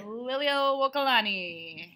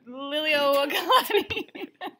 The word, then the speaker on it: Liliuokalani: looks at you while you do it, is pronounce the Queen of Hawaii's name. Which is on the left side. Liliuokalani. Say it one more time. Liliuokalani.